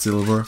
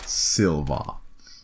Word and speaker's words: Silva: Character is Brian Silva. Not Silver, Silva.